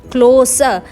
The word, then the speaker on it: close: इसी same spelling के साथ में हमारा जो यही वर्ड है CLOSE, क्लोज, इसमें स का साउंड आता है पीछे, जिसका अर्थ होता है निकट या प्रिय।